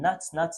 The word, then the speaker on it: not: de de d'ajouter n NAT NAT NAT NAT partout ça s'écrit n o t notes mais ça se ditit nat estce que je me